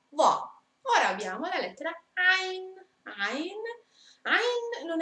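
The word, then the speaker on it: عين: Ain.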